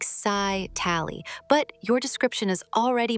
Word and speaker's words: scytale: It is usually said scytale, like sci-tally, but your description is already basically the whole trick.